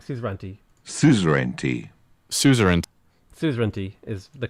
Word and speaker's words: suzerainty: Suzerainty is the correct way.